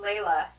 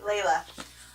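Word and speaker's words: Laila: quickly and who my other favorite character is Layla it's how you say it oh dang it Layla she is Indian and she her story is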